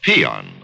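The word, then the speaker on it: paean: this hole a deuce there's a word pronounced peon and spelled p a e a n it means to praise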